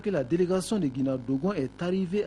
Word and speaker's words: Guina Dogon: Une délégation de l'association de Guina Dogon me fait signe, mes cousins Dogon, il faut bien prononcer Guina Dogon.